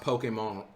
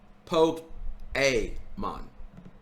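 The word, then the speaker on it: Pokémon: This guy gets my thumbs up, chat, just because he pronounced Pokemon right. He didn't call it Pokemon, Poke-A-mon. here.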